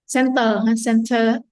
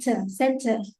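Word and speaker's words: centre: But we pronounce the same center.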